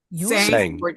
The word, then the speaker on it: Tseng: is your last name pronounced? Sang sang a song with Margaret Flowers.